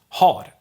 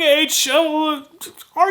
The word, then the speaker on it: har: on its own but if i say har for instance to ha or i i have then i wouldn't drop the h when just telling you the word stand alone however in a sentence the h will most likely disappear so you have your